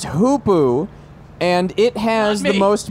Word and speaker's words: hoopoe: I believe it is pronounced hoopoo.